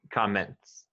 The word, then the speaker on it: comments: t s s t if the t is next to an s then you're gonna pronounce the t okay got it so